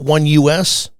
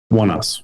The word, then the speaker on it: Oneus: And I think it was the band, do you pronounce it One US? One Us.